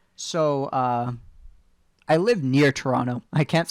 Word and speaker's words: Toronto: that's funny i said toronto if you're in toronto you say toronto you don't pronounce the t um if you're in